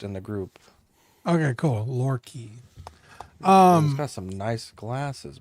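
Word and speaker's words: Loki: It's pronounced Lore Key for the Eric in the Patreon chat. Okay. He He made a post in the group. Okay, cool. Lor Key.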